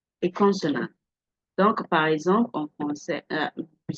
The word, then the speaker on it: français: Donc, par exemple, en français, we say this, pronounce this as what? Français, français, français. Can you see? I didn't pronounce the S. The S is not supposed to be pronounced.